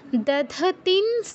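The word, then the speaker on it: দধতীং: দধতিন, অনুস্বারের পর দেখুন কি আছে? দন্ত স, যেটি দন্তবর্ণ, তো এর অনুনাসিক্য স্বর হচ্ছে দন্তন্য। দন্ত অনুস্বারের জায়গায় কী উচ্চারণ করতে হবে? দন্তন্য হসন্ত। দধতিন। আর অনুস্বারের আগে দেখুন দীর্ঘইকার আছে, অনুস্বারের উচ্চারণে যাওয়ার আগে তি দীর্ঘ করে নিতে হবে, তারপর অনুস্বারের উচ্চারণ।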